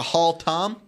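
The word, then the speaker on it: Haltom: Pascal tend to nothing they pronounce that holtam does it hold them off like a hall tom yeah Tom walking down the hall we would emphasize the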